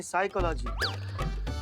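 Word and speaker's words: psychology: पिसाई का लागी तो साइकोलॉजी नहीं साइकोलॉजी पी साइलेंट होता है तुम हो जाओ साइलेंट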